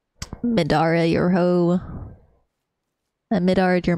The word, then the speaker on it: Midare: I say it like a white girl. Mid-dire. Mid-dire. Mid-dire. Is that how you pronounce it? Oh, spare me, Sam Mans. I did not pronounce Midare right. Midare, your hoe.